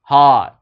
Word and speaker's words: heart: hard on her heart heart các bạn phải kéo dài các âm o này một chút Tại vì nếu không nó sẽ lọt xanh cái chữ hoa Heart heart heart là âm